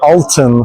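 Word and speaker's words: altın: We say alton for golden and we say alter for six. It's almost the same pronunciation and that's why the architect misunderstood.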